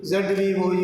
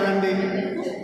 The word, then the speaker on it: rendezvous: For example, a word like Rendezvous, it is a French word. My students would say rendezvous, almost like a rendezvous. It is rendezvous, very soft word. Rendezvous, French, it is rendezvous.